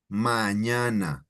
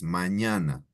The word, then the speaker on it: mañana: Mañana. Tomorrow is mañana. Mañana. And it's spelled with an ñ, right?